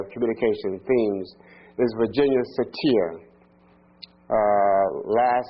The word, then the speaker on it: Satir: And one of the person that's an expert in this area here of communication themes is Virginia Satir. Uh last name is spelled s a t i r.